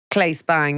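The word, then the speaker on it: Claes Bang: Is it Clays? Clay Spang.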